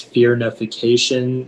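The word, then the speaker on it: firnification: Yeah, the only pronunciation is fearnification.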